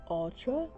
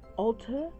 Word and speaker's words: Ulta: BH Cosmetics now on Ultra Ulta I mean it is going for $16 if you want to save $3 go to ultra Ulta I don't know why I keep saying the name wrong Ulta it is cheaper